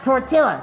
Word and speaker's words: tortilla: It's pronounced tortilla, not tortilla. Tortilla.